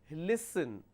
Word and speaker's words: listen: so this particular word l i s t n listen actually the pronunciation is listen so we have a s sound here so we have a